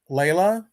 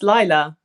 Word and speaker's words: Lila: Why don't you just launch into the story of, is it pronounced Layla? It's Lila.